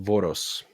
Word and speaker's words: Voros: Mount Voros.